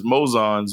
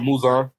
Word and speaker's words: Muzan: It's Mozan's memories. Mm-hmm. Muzan, however you say his fucking name. You said it right the second time, Muzan.